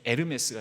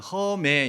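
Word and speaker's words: Hermès: 말 하면요 하에는 헤르메스 명품 브랜드 중에 에르메스가 있어요 에르메스 브랜드의는 무음입니다 그래서이 에 헤르메스 에르메스를 그대로로 이렇게 가거든요 그거를 그냥 허 이렇게 하게 되면 허메 이런 식으로 번역 발음이 될 수도 있습니다 그 에르메스라고 바울 보고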